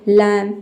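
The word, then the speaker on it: lamb: और दूसरा बी के पहले एम आएगा तब साइलेंट होगा। नम नम मींस होता है सुन। ठीक है? कोम। कोम मींस कंघी। लम।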